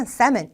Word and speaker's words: salmon: 연어는 셀먼이라기보다는 salmon, L 발음이 나지 않습니다.